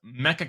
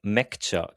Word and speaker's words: Mecha: And the other one is Mecha Chameleon. But uh Patrick, you'll correct us. How do you say it again? Actually, it's called Mecca Chameleon because it's Japanese.